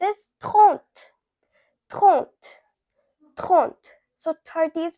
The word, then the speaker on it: trente: Now 30, it is pronounced as trente.